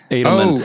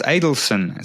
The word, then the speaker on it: Adelson: Along those lines of color, you talk about, is it Adelman? How do you pronounce the checkerboard? Adelman. Oh no, that's Adelson. Sorry, there's very similar names.